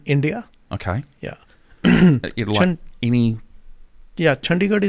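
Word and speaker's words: Chandigarh: okay yeah any yeah chandigar is the name of the city sorry how do I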